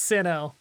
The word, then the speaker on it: Sinnoh: It's Sinnoh.